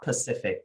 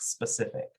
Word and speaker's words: specific: Deteriorate, itinerary, February, nuclear, phenomenon, and specific, not Pacific, specific.